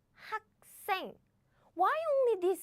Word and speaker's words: 학생: So these sounds becomes double, as in 학생, 학생.